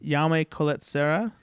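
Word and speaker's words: Jaume Collet-Serra: And the director of this, how do you pronounce his name? Yame Colette Serra.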